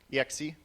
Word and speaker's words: exec: How do you pronounce that? X, exec.